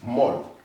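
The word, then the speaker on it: molt: This T is silence. Mol.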